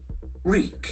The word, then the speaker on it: wreak: Wreak. Wreak. So EA will have longer E sound.